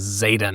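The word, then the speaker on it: Xaden: You can tell because his name is Zayen. Zayen. Is it spelled with an X or a Z? X.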